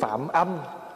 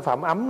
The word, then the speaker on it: Phạm âm: về sau được tướng Phạm âm phạm âm chứ không phải phạm ấm nha đó Thí dụ chữ về mà nếu mà người không biết thì cứ đọc là Phạm ấm còn mình biết thì mình đọc là phạm âm bởi âm đây là gì là âm thanh Còn chữ phạm là